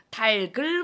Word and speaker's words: 닭을: 예를 들면, 닭을 먹었어 할 때 닭을이라고 해야 될까? 달글이라고 해야 될까? 이제는 다들 잘 알기 때문에 모음으로 시작하는 형식 형태소가 뒤따라 붙으면 어떻게 해요? 연음시켜서 달글이라고 발음해. 달글 먹었어. 이게 표준 발음이야 라는 거 잘 아시거든요.